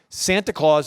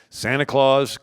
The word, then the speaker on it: Santa Claus: Now, Santa Claus is the Dutch pronunciation of St. Nicholas. So the Dutch, they call it Sinterklaas or Sant Nicolaas. If you say Sant Nicolaas a couple times, Santa Claus, right?